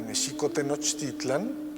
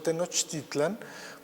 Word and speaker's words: México-Tenochtitlan: que les comentaba que méxico así es como se pronunciaba en el méxico prehispánico la equis no se pronunciaba ni o nicks sino el acento estaba en la segunda sílaba méxico-tenochtitlan no tenochtitlan esa es la pronunciación prehispánica que después fue también